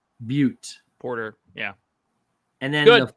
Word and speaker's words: Butte: I'm going to mispronounce this probably, but it's the Deschutes Brewery Black Butt Porter. Deschutes Black Butte. Butte.